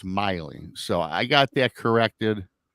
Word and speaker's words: Maile: So when I seen this, I said, "Oh, Maile," and then it's Miley.